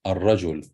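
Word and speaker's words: الرجل: So if it's followed by lam, you pronounce it as fatha, Hamzatul Maftuha. You say al-kitab, al-qamar, al-rajul.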